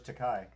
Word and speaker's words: Takei: George Takei. Yeah. George Takei, internet. I know. It rhymes with gay.